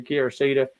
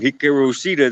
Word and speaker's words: Hikaru Shida: I can't imagine Penelope Ford taking it from Kira Shida. Shida is just the bomb right now. So what's your take on that one? I think the correct way to say it is Hikaru Shida.